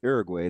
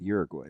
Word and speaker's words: Uruguay: Okay, so it's Uruguay, not Uruguay, right?